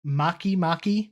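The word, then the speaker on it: Makemake: oh man uh hamiya makimaki and Eris makimaki yeah spelled like it's one word but it's spelled make make sounds like they're just a mahi mahi and stuck a K in it so it sounds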